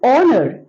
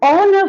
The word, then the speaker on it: honor: o right now and honor it is an honor for me it is an honor we do not say honor it is an honor again H here is silent and it begins with